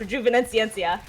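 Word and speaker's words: Rejuvenescência: I actually spent so much time memorizing the way that's pronounced. So that's how it's pronounced, Rejuvenenciencia.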